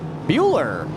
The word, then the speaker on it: Bueller: You've got Casey Bueller. We're going to call it Bueller. That's the pronunciation.